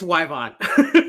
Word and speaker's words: Yvonne: be here good good did i get the pronunciation your first name correct almost it's yvonne yvonne i'm sorry my apologies i i throw